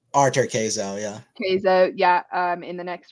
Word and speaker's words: Cazaux: I said his name wrong last week. Cazaux. Arthur Cazaux, yeah.